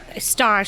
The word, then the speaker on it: stage: S-T-A-G-E, so it's the French pronunciation.